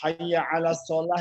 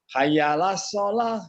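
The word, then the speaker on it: حي على الصلاة: Misalnya hayya 'alas shalah itu apa? Bahkan kadang-kadang ada orang yang salah membacanya. Hayyalas shalah gitu ya kan? Hayyalal falah gitu. Tidak pakai ain.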